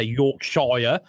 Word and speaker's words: Yorkshire: but that's how it's actually spelled as sa York Shire I'm can show ya i would say yorkshire